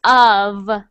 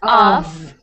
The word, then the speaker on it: of: to be separated so of is pronounced like a v so of not off okay all right ub